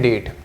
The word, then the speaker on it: debt: DEBT तो होता है, पर डेट उच्चारण करेंगे। ठीक है, डेट, DEBT।